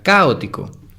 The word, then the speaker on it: caótico: La sílaba tónica es la letra O. Ahora es aguda, grave, esdrújula. Es palabra esdrújula. Las esdrújulas siempre se acentúan. Entonces sería caótico con acento en la primera O.